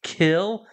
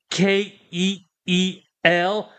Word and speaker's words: Keel: l which would be kill it is spelled k e e l and you don't pronounce it as kill in that way you